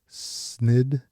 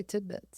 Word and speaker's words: tidbits: Snidbits is how you say it? What is that? I would say tidbits.